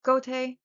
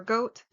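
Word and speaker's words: Goethe: um named Gote or Goat. Goat's Goat's It's spelled g o e t h e. I don't know how you're supposed to to say it, but I'm going to go with goat or goat.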